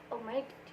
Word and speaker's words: omitted: Untuk cara pengucapannya itu ed-nya berubah menjadi id, sehingga omit menjadi omitted.